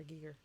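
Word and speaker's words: Giger: deliberately tony you know it's pronounced geeger right not geiger so many people say h.r geiger and i'm like what his name is h.r gigger technically but you know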